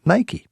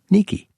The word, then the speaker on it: Nike: At this temple, she was worshipped for bringing the Athenians victory, that is, Nike, or as Greeks pronounce it, Nike.